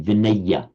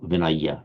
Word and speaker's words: vinaya: of the Buddha and they certainly would say vineya not vinaya vineya however I'm not